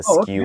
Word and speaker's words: SKU: You can pronounce SKU as a word instead of spelling. It's skew. Okay. Yeah. Oh, you say like skewed, like skewed.